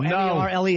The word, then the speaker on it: Merle: No, M-E-R-L-E is Merle.